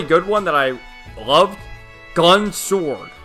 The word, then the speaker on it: Gun X Sword: one that I loved, Gun Sword. Spelled Gun X Sword, but the X is always silent in those series.